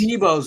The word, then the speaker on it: Deebo: These are some of the things that I see is, well, Deebo's a diva. And why is he a diva? Because his name rhymes with diva. It kind of sounds like diva.